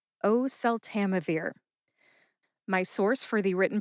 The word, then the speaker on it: oseltamivir: Put all five syllables together and you get oseltamivir. Emphasize O and Tam. Tam gets the most emphasis. See if you can hear that emphasis when I say it again. Oseltamivir. Oseltamivir.